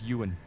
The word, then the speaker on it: Ewan: Evan, no? No, it's Ewan. Ewan, really? Ewan, Yeah. That's it. He's Pronounced British, I Ewan.